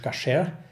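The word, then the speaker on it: כשר: Koscher, oder eigentlich ursprünglich auf Hebräisch Kasher ausgesprochen, bedeutet nicht mehr als rein.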